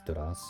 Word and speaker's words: Doras: Or Doras. How is it actually pronounced? Let's just go with Dora. Doras. Except you roll the R, so it's Doras.